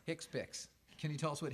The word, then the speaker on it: HCPCS: final value next slide is this hcpcs how do you pronounce that hicks pics hicks picks can you tell us